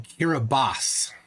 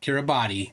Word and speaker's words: Kiribati: uh aranaku Island in kiribas here a boss they say not Kiribati kiribas there it is now